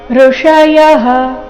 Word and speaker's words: ಋಷಯಃ: ಬ್ರಹ್ಮ ನಿರ್ವಾಣಂ ಬ್ರಹ್ಮ ನಿರ್ವಾಣಂ ಋಷಯಹ ಇಲ್ಲಿ ಸ್ವರ ಋ ಇದೆ ರಸ್ವ ಅದರ ನಂತರ ಮೂರ್ಧನ್ಯ ಷ ಋಷಯಹ ಯ ನಂತರ ಇರೋ ವಿಸರ್ಗದ ಉಚ್ಚಾರಣೆ ಹ ಎಂದು ಬರಬೇಕು ಇದು ವಿಸರ್ಗದ ಅಪವಾದ ನಿಯಮವಾಗಿದೆ ವಿಸರ್ಗದ ನಂತರ ಕ್ಷ ಬಂದರೆ ವಿಸರ್ಗದ ಉಚ್ಚಾರಣೆ ಹ ಎಂದು ಬರಬೇಕು ಅದಕ್ಕಾಗಿ ಇಲ್ಲಿ ಋಷಯಹ ಕ್ಷೀಣ ಈ ರೀತಿ ಬಂದಿದೆ ಋಷಯಹ ಕ್ಷೀಣ ಕಲ್ಮಶಾಹ ಕ